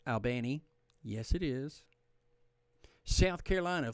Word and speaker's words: Albany: Albany Columbus in south Georgia it's called It's pronounced Albany yes it is South Carolina Florence Beaufort South